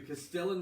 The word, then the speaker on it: castellan: I don't think it's Castellane. He's never said Castellane. He said Castellan.